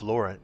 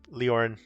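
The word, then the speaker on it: Lórien: So you are traveling through Murkwood Forest carrying an urgent message from King Fenderal to Lady Gladriel of Lauren. Leor Lauren Leor Lauren. I keep mispronouncing that. Leorin.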